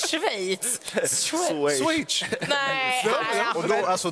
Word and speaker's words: Schweiz: skit, det är att jag tydligen uttalar Swage fel. Swage! Jag vet inte, Swage, alltså det är det. För, jag vet bara att jag sa det. Det heter inte det, det heter Schweiz.